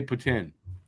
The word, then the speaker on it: poutine: is if you don't if you're not from Quebec and you don't know how to say it properly you say poutine if you're from Quebec where it was originated you say Puttin put it where you